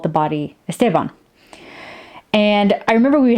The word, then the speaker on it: Esteban: It's like, well, I mean, that's how you pronounce it, but you know, in Spanish, where the name originated and based on our grammar rules, it's Esteban, not Esteban.